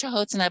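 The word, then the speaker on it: Canotina: me what chihonas were and it's it's it's pronounced chohutsuna but it's actually spelled cano tina c-a-n-o-t-i-n-a and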